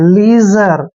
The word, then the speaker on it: leisure: एल का उच्चारण ले करते हैं, ई आई को ई की मात्रा पढ़ते हैं और SU का उच्चारण यहाँ पर जय करेंगे। जब भी एस से पहले आई आते हैं, एस को हमने जय पढ़ना है और RE को रे लिखते हैं। लीजर, लीजर क्या होता है भाई?